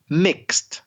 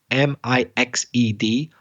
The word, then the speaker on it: mixed: And one other little thing, ED, mixed, for example, M-I-X-E-D. Don't pronounce the E. It's 1 syllable.